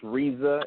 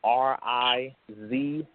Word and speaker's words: Rizza: It is Rizza Islam, RIZZA. So it's basically pizza but spelled with an R.